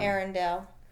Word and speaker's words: Eärendil: Eärendil. I think it sounds best when you just kind of you pronounce the A, but you roll it a little bit.